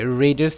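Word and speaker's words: read: রিড বলে থাকি but second এবং থার্ড ফর্মের উচ্চারণটা কিন্তু হবে রেড যদিও স্পেলিংটা বানানটা সেমই থাকবে সেম একইভাবে আমি লিখেছিলাম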